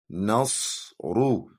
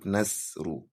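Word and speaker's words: نَصْرُ: That sword there, some people do mistake it for sin. Some people will say nasru. It is not nasru, but nasru. You are expected to what? Pronounce the sword properly.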